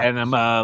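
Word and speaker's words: Ænima: Anima, like, my Yeah, I don't think bowels I've ever release said it right, themselves ever.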